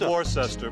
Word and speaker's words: Worcester: Yeah, It's spelled Worcester.